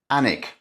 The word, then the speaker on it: Alnwick: Alnwick. The L and the W are both silent.